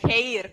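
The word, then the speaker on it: χείρ: Okay, at least he should pronounce it with the accent correct, like hair, at least, huh? Because the stress is in the E there, in the I, whatever.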